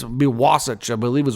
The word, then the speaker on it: Wasatch: I think that's how you pronounce it. Wasatch. I think it's be Wasatch, I believe is how you would say it.